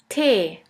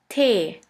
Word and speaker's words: Tee: T is pronounced like the T in the word tea, and the German translation for tea is Tee. Tee.